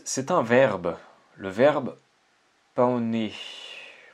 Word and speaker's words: paonner: Le verbe paonner. Paonner. Paonner, je pense. Paonner. Le prononcer comme un paon. Comme un paon, l'oiseau.